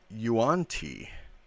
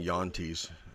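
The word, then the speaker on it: Yuan-ti: Um, he plays a Yuanti uh barbarian. Um, I used to call them Yantis. Um because I just thought that's how you pronounce.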